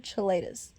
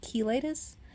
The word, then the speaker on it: cheilitis: correct pronunciation for chilitis so it's exploitative chilitas because I would always constantly say exfoliate of chelitis because I would always